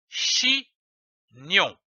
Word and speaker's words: chignon: Prenons une autre syllabe, comme par exemple nion, G-N-O-N, qui se prononce nion. L'association de ces deux syllabes donne chignon, comme un chignon.